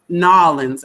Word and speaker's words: New Orleans: to see his city and enjoy Nolans, as he says it. All right, I probably can't say it like he says it, but to enjoy New Orleans.